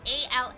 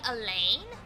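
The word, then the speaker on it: Alain: time we played because our protagonist name a l a i n they say Elaine I say Al because a l a i n is the French form of Alan I have an uncle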